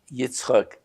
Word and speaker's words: Icchok: name and last name, and if you could spell it. IG: My name is Icchok, and the spelling is I-C-C-H-O-K, for my first name, G-N-I-W-I-S-C-H, for the last name.